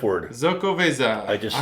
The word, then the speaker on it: Xocoveza: I think that you pronounce the X's like that, right? I am so fucking impressed right now. Damn, dude. I just said the F word. Xocoveza.